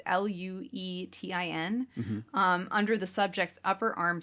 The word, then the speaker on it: Luetin: In the experiment, Noguchi injected an extract of syphilis called, I believe it's pronounced lutein. It's Luetin, under the subject's upper arm skin.